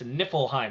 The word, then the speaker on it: Niflheim: It's Nifl. It's Niflheim.